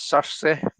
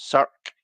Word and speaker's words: Cersei: Cersei is such a good deck, and I know how to pronounce it now. It's Cersei, not Cirque, Cirque, or however else I was pronouncing it when I did my video.